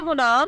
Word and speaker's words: Munam: नाम है मुनाम, स्पेलिंग है MUNAM।